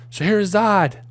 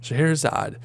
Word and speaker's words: Scheherazade: Eventually, the Vizier's daughter, Scheherazade, I know how to pronounce that word, because I'm a musician, Scheherazade, who had been exempt from the danger, volunteered to marry the king.